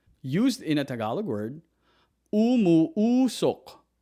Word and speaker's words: umuusok: Used in a Tagalog word, umuusok. Umuusok. Umuusok. In English, it means it's putting out smoke. It's putting out smoke. It's putting out smoke. Or it's producing smoke. So for example, umuusok ang niluluto ko.